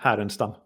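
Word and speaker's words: Härenstam: And then the the Blues did just draft um I believe it's pronounced Lou Harren Stam, the goalie. Louve. Louva. Yeah. Yeah. Yep. Haren Stam.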